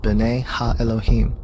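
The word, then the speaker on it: בני אלהים: of god mentioned here in the hebrew is pronounced bane elohim the septuagint which is the greek translation of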